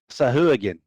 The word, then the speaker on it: Sahuagin: Sahuagin.